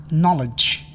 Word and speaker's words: knowledge: hangover, Silent K. K is not pronounced when followed by N at the beginning of a word. knife, Knee, no, knock. knowledge, Silent L.